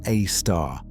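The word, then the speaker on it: Sagittarius A*: The asterisk pronounced a star was added later to distinguish the compact persistent radio emission from the larger diffuse radiation filling the galactic center.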